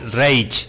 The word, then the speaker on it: Reich: Wilhelm Reich, Reich se escribe, pero Reich.